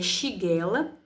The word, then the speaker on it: Shigella: A pronúncia é Shigella.